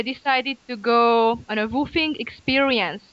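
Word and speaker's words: WWOOFing: Around the end of my stay in Japan, it was summer, and I decided to go on a woofing experience. It's spelled as WWOOF.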